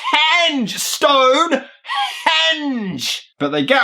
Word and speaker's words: henge: living Rock of stoneage it's henge there is an H there all right right I